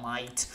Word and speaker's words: mate: volte a seconda di come lo pronunciano nei regionalismi come in Brisbane o in quelle zone schiacciano un po' la vocale, quindi mate diventa might, anche se è sempre scritto mate.